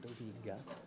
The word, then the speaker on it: Dhobi Ghat: How do you pronounce the title? Dhobi Ghat?